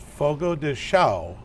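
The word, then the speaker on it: Fogo de Chão: Chamber of Commerce and I am here at Fogo de xiao they say it right yeah that's correct awesome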